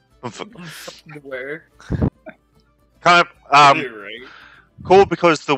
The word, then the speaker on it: Bummfuknoaere: It's actually pronounced Bummfuknoaere. Bummfuknoaere.